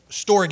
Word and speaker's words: storge: use that last okay storge is is the way it's pronounced it looks like storage right storge the greek word describes